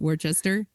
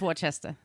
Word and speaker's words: Worcester: college in worchester massachusetts is that you pronounce it wordchester yeah am i wrong what are you making fun of me i don't know i i think it's worcester okay i know it's dorchester